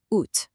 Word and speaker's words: août: Now, what's really important on this side is the pronunciation of August. Août.